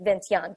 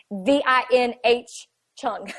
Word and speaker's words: Vinh Chung: It's about I can't really pronounce his name, of course, but I called him Vince Young, but that's not his name. It's Vinh Chung.